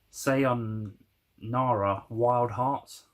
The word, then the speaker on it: Sayonara Wild Hearts: It's Sayonara Wild Hearts, that's how you pronounce it.